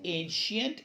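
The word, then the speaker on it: ancient: Mind the pronunciation also, it इज एंशियंट।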